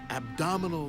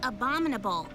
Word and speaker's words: abominable: So, Velma, what can you tell us about this abdominal snowman? Not abdominal, Freddy. It's pronounced abominable.